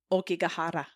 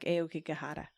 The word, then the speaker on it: Aokigahara: think the authentic pronunciation is like Aokigahara, but I cannot do it like that.